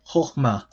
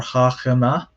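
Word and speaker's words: חכמה: Some people might think that there are three syllables here. They might try to say chokhmah or chachma, but it is not. So it's not three syllables, it's only two, and both syllables are closed.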